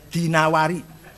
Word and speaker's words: Dinawari: wasas IB quaibah addinawari jangan addainuri Bacanya dinawari jangan addainuri enggak ada kota dainur Ada dinawarwar he alasmi enggak ada Asmi